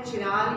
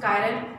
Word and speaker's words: chiral: syllabus में आया है, चिराल या कायरल, फिर भी प्रोनाउंस करिए आप चिराल के CHIRAL, but correct pronunciation is कायरल, और दैट प्रॉपर्टी या